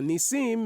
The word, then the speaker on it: Nissim: So Nissim is actually how you pronounce and and know now what people call me Nissim.